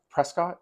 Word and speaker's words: Prescott: big the next big stop is the uh Prescott presc presc presc you got to say presc presc okay again I think I was telling